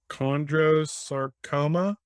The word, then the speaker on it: chondrosarcoma: And I'm going to ask you to pronounce this for me because I butcher it when I say this. So it's chondrosarcoma? That's correct.